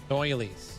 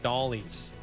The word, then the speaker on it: doily: I always pronounce that wrong. Doilies. Yeah. Oh, yeah. I know it's pronounced doily, but I call it dollies cuz I get it confused with that other word.